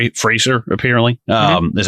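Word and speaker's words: Brendan Fraser: rallies behind matthew lillard like they do brendan frazier fraser apparently um is how you say it's not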